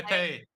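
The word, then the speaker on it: épée: Epee. Mm. As we've learned recently, it's pronounced epee.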